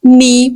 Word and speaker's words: knee: problem I have knee problem here again K is silent you will pronounce the